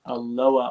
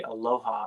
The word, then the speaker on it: Aloha: It's like uh if you're from Aloa, Oregon, you can't say Aloha, even though that's the way it's spelled and sounds.